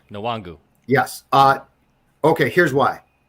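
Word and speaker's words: Nwangwu: no no he's not two declandovska wangu kane nuwangu nawangu yes uh okay here's why here's why wait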